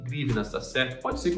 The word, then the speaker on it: hryvnia: O nome da moeda da Ucrânia é grivna, tá certo? Pode falar desse jeito mesmo, é um nome estranho, grivna.